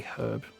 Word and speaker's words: herb: I hate the way Americans say herb. They're correct though. Annoyingly, technically they are correct cuz um herb is based on a French word where you don't pronounce the H.